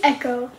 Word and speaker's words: Eco: So, okay, you spell it E-C-O. Because I know that's eco, like eco-friendly, but I call him Echo, okay? And that's how you spell. Not E-C-H-O, how it's supposed to be spelled.